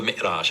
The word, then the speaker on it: Mi'raj: That's called the Mi'raj.